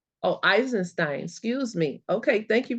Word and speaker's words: Eisenstein: to read Charles I don't know how to pronounce his name esin someone help me with that is sacred economics not sure I enenstein oh eisenstein excuse me okay thank you very much eisenstein